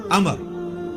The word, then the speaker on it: Amr: है ल है अमर लिखा होता है उमरू लेकिन उसका मतलब वा जो है व साइलेंट होता है और वा का मतलब यह है कि आपने इसे पेश की बजाय जबर से पढ़ना है उमर की बज पढ़ना है अमर तो हजरत अमर बिन